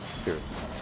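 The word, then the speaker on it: Cirith: Kirith.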